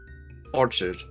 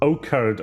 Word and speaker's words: orchard: Is it Orchard or Orchard? Eddie? Orchard. Okay. Thank you. like Tortured.